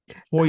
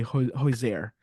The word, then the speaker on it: Hozier: you saw Hosier. Hozier. Yeah. Well, I get requests on the street to say Hozier.